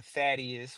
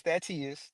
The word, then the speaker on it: Tatias: The only reason why people are saying that is because they were saying that it happened on Thaddius, which my name is Tatias to be clear. My name is Tatias, but they are saying it wrong.